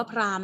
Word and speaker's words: พราหมณ์: คัน นี้ อ่าน ว่า พราหมณ์ นะ ลูก คำ อ่าน ที่ ถูก ต้อง คือ อ่าน ว่า พราหมณ์ ใน คะ Prime ต่อ